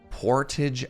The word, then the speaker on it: Portage: now most of you would pronounce this Road Portage but in Winnipeg port hey Sam skunkwork thank you for using your Prime here as well Portage Avenue there we go Portage is